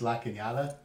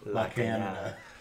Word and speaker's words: La Cañada: It's what makes La Cañada Ooh. La Canada. So it's actually called a tilde. And then whenever you put it on top of the N, that is called an enye.